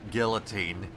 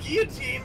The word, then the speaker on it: guillotine: so like it's pronounced guillotine but it's got two L's it's got two of the L sound to the locals is